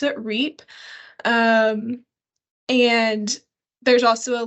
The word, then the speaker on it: REAP: called the rural energy for America program I pronounce it reap um and there's also a link to that